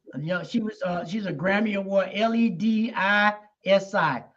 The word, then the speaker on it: Ledisi: You know, she's a Grammy Award, Ledisi. That's how I pronounce it.